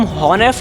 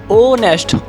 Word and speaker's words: honest: HONEST, मैंने कहा था इसमें H साइलेंट रहता है, तो इसे हम हॉनेस्ट नहीं बोलेंगे, सिर्फ O। अगर H ही शांत रहेगा तो O से शुरू करेंगे, तो ऑनेस्ट, ऑनेस्ट बोलेंगे, ओके।